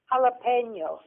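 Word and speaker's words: jalapeño: Grandma, tell these people how to pronounce jalapeno. Jalapeno.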